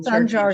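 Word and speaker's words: Sancar: So we're thrilled today to bring this program to you, and thrilled that the Sanjar, is that the correct pronunciation, Gwen? Sanjar? Yes, in Sanjar Turkish, Center. a C is a J.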